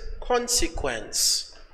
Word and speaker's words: consequence: Let's go to the other word, which is consequence. Consequence. Consequence has three syllables. One, two, three. The stress is on the first part, which is here.